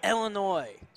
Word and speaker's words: Illinois: seven sophomore of Chicago Illinois thank you that's the right way to say it Illinois lashawn's antic ball up